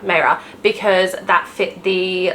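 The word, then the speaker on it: Maehrer: Hanna Nicole Maehre, not Vera, Maehre, because that fit the like YA fantasy.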